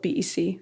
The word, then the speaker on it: Bec: Bec is spelled B-E-C. There's no K, like that guy.